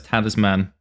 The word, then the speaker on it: Talisman: A lot of the history of the game, but unfortunately since this gentleman is saying it, we now have to say it as Tanner's man.